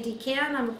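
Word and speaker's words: decan: called decons d-e-c-a-n and if you want to say d can i'll tell you pecan pecan okay i say d cod all right but there's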